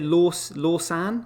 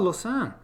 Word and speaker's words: Lausanne: great yeah ted uh is it lost lawson how do you pronounce that lassen in uh switzerland oh lausanne um so uh says